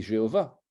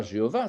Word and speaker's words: Jéhovah: déjà à l'époque alors les voyelles du tétragram seront EOA ce qui fait qu'on va prononcer Jéhovah vous voyez bien d'où